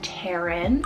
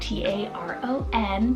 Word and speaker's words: Taron: Then I have Taron, spelled T-A-R-O-N, Taron for the boy side.